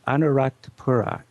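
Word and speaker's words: Anuradhapura: well another great city is a city called anarat Pura and I better spell that these Sri Lanka names are really tough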